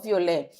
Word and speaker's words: violet: The T is silent. Le violet.